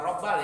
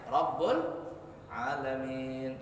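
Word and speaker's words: رب العالمين: La yaghfirun dzunuba illa rabbul alamin. Bukan rabbal ya, bacanya rabbul alamin.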